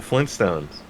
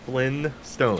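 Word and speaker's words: Flintstones: cartoon references but the Flint Stones Flint stone like like Flint right well that's the thing right like I I never pronounced the first T there's two T's in Flint stone I just Flyn Flint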